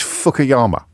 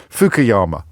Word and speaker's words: Fukuyama: mispronounce his name now Francis fukayama pardon fukuyama Francis fukuyama uh who